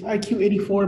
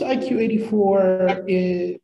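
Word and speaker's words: 1Q84: called iq 84 because in japanese number nine is pronounced as q so they kind of just did a play with it so it's separated in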